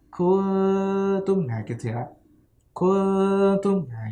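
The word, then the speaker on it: كُنْتُمْ: Misalkan tadi contohnya kungtum, ya, kungtum, kaf non ta mim, ya, non mati ketemu ta. Nah, cara bacanya itu ketika ikhfa itu langsung mau siap-siap, ya, akan siap-siap ke huruf ta. Kuntum, nah gitu ya.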